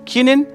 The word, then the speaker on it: können: Able to के लिए, ओ के ऊपर उमलाउट लगा हुआ है, प्रोनाउंसिएशन होगा किनिन। अगर ओ को आप जनरली प्रोनाउंस करना चाहते हो तो आप इसको बोलेंगे ओ, सिंपल ओ, बट यहाँ पर आएगा किनिन, किनिन टू be able to.